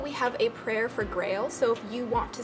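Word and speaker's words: Graël: more information about each one of them though Grail is the elemental dragon guardian of Earth and Grail is pronounced Grail even though it's spelled ger AEL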